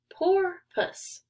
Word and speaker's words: porpoise: dolphin but it's different you say it like this poor puss a dolphin's body is